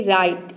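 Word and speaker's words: right: यहाँ पे भी देखिए आर का र हो जाएगा, आई का हो जाएगा आई। अब देख सकते हैं GHT आया है तो GH साइलेंट हो जाएगा, टी का हो जाएगा ट, पूरा हो जाएगा राइट।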